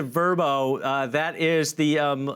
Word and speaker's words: Vrbo: get this right guys it's verbo it's not vrbo anymore they pronounce it verbo uh that is the